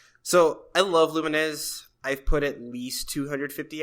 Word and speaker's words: Lumines: Uh, then we've got Lumens Remastered. Lumines. Lumines. Lumines. What? It's spelled Lumens.